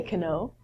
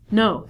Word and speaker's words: know: however we don't say can O we reduce this to No so not only the beginning letter K is silent but W is also silent so instead of saying